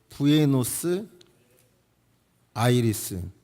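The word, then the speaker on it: Buenos Aires: 그래서 경제적으로 어려우니까 엄마가 그 아르헨티나 의 수도 발음이 찰 고루 정확한 g 부에노스 아이리스 ils 만나 의 부에노스아이레스 그곳으로 가정부로 같다는 거에요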